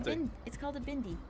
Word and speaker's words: bindi: It's called a bindi.